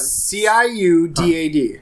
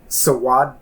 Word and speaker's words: Ciudad: C-I-U-D-A-D. So, Sawadado? No O at the end. Ciudad. Ciudad. Ciudad.